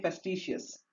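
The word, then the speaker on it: facetious: तरीके से लिखा हुआ है, तो सही इसकी प्रोनाउंसिएशन होती है फेस्टिशियस।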